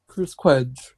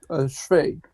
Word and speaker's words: Cwej: I collaborate with other people, and it's all about CWEJ. That's how I pronounce it, but his real name, how it's really pronounced is CWEJ.